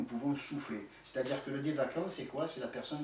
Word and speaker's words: Devachan: Les hindous le nomment Devachan. Bon, nous en Psyézo on prononce ça Devakan, comme s'il y avait un K, alors que ça s'écrit CH, si on veut l'écrire en français.